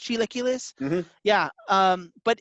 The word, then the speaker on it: chilaquiles: to resemble uh chilaquiles i think the way is pronounced chiloculus yeah um but it's